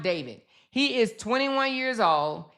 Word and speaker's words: D4vd: And it's pronounced David.